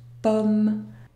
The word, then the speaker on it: pomme: 2 n'est pas rempli la combinaison om n'est pas une voyelle nasale le mot se prononcent pomme c'est fini au revoir